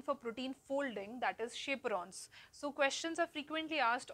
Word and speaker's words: chaperone: for protein folding right see the name chaperon so it is cha PE right but the we pronounce it as chaperon because they give shape